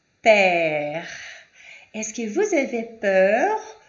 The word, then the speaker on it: père: E o ER com crase, a pronúncia é père.